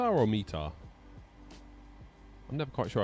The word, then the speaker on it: METAR: David says it's pronounced meta. Meta or meter.